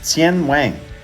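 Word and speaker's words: 天网: So, in Chinese, it's pronounced "Tiānwǎng", okay?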